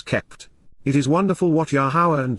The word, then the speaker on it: Yahowah: together with and beside yahwah yahwah the proper pronunciation of the name of iloa God has